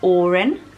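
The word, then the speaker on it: Odhran: veut I left the look of the name Oran so it is spelt OD h ra n and it's pronounced Oran it's a bit like Erin I guess is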